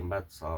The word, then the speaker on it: Metsä: Фінський ніж ахті меца. А кажуть оце а в кінці меца воно ее фінське фінська вимова вона між нашою а і я.